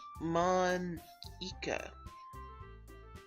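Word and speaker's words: Monika: all people because it's right in your name Monica Eike mm-hmm that's how you say my name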